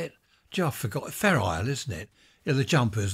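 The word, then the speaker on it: Fair Isle: country I remember hearing something about is it feral feral jumpers from up North you file fer ale wool how do you say it Jo forgot a fair ale isn't it you the jumpers that fishermen wear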